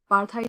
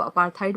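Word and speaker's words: apartheid: अपार्थाइड के 2 pronunciations होते हैं. यूके इंग्लिश में इसको अपार्थाइड बोला जाता है और अमेरिकन इंग्लिश में इसको अपार्थाइड बोला जाता है.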